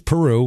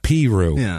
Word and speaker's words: Peru: and uh of course the pronunciation wise it is Peru like the country even if it wasn't